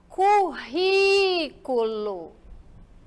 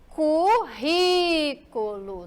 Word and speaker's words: currículo: falando da pro paroxítona quando a palavra tônica for a antepenúltima olha lá antepenúltima tá de marcado aí de vermelho que é para vocês ficarem esperto sílaba da palavra nós fomos classificá-la como proparoxítona currículo Ok currículo novamente os ícone Zinho os aqui ó tá me mostrando que ela é a mais forte e que ela não